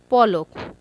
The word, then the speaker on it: পলক: যেমন প ল ক পলক এই শব্দটি উচ্চারণে পলক বলবো না মানে ওকার যোগ হলো না কারণ আগেই বলেছি প্রথম